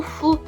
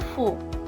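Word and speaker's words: ふ: Só que não é fu. Eu não consigo mais falar o fu em português. Não é, a pronúncia dele não é fu. A pronúncia dele é fu. Ele é um entre o F e o H.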